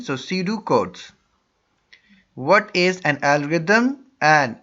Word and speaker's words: pseudocode: flowchart and su decodes P is silent so C do codes what is an algorithm